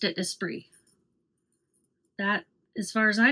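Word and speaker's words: Esprit: spree sport shorts and I've heard resellers say Espirit. This was a brand that was popular in my day in high school in the 80s and 90s and it we pronounced it espree.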